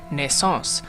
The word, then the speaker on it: Naissance: Hey everybody, this is here, and today I'm taking a look at Naissance. So I have never taken French, so I had to look up how to pronounce the title as well as what it